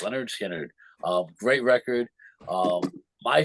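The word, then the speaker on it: Lynyrd Skynyrd: uh Leonard skinnard uh the first album pronounced pronounced Leonard skinnard um great record um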